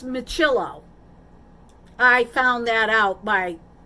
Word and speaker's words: Miccilo: that according to michello and it's not me celo which I like the sound of that it's michillo I found that out